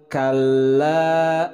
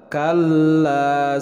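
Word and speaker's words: كلا: Kalla, lam bertasydid ditekan.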